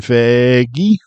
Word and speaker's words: Feige: Kevin Fiji. Whatever your name is, Mr. Marvel Stop Man. pronouncing the G. Kevin Feige.